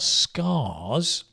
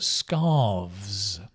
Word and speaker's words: scarves: to friends yeah Jenny be careful not scars but scarves there's a v there scar is a cut right but this is scarves that you put around your neck scarves so I think